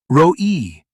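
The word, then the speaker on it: רֹעִי: Roi, shepherd. The r sound at the beginning is a rolling R. It vibrates in the front of your mouth.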